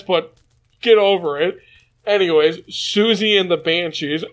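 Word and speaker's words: Siouxsie and the Banshees: Anyways, Susie and the Banshees. I believe that's how you pronounce it.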